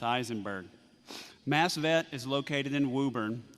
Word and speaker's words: Woburn: MassVet is located in Woburn. I did have to learn how to say that because it's spelled Woburn, Massachusetts, just outside of Boston.